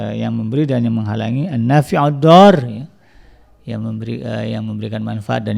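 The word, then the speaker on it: النافع الضار: Ad-Dar, makanya dibacanya kan disambung. An-Nafi'ud-Dar, yang memberikan manfaat dan yang memberikan mudarat, dipasangkan.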